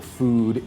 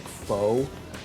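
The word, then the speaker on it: phở: in a crappy part of town but the food is superb and the price cannot be beat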